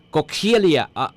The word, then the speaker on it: Coxiella: Tayo na po tabi na lalanghap, nalalanghap po tabi, ining inaapod na bacterial pathogen na Coxilia, ano ang pag-pronounce kayo ni? Coxilia. Ang spelling po, COXIELLA. Coxiella. Coxiella ba? Coxiella.